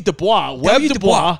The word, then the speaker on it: Du Bois: learned how to say it correctly yeah w dubois yeah webb dubois said no i want my